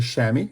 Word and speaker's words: chamois: So this is the chamois or chamois, written pronounced the French way chamois, but chamois in English.